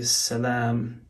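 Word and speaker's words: سلام: note here you know in hebrew you have shalom but instead of the o sound which is with that vowel there in ancient phoenician it was pronounced shalam so that's the phoenician pronunciation versus shalom versus where is it in arabic where it would say salaam let's see it's hard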